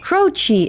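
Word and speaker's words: Croce: Jim Crochi. Crochi. Is it Crochi? I was always saying Croach.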